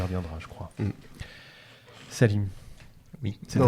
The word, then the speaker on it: Salim: Salim.